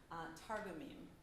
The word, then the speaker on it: Targumim: And it contains the Hebrew scriptures and the traditional commentaries called the Targumim. Am I pronouncing that correctly?